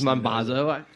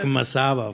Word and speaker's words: Mambazo: I didn't know it was Mambazo. I know, you called it Ladysmith Black Masabo for like I was 10 the fucking years.